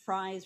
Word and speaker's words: Fries: Another one that I wanna mention, which it doesn't often get mentioned, and I believe it's pronounced Fries Rebellion, F-R-I-E-S, takes place under Adams's presidency.